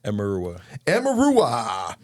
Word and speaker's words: Emeruwa: Today we've got Justin Mickle and Uchechi, how do you pronounce the last name? Emeruwa.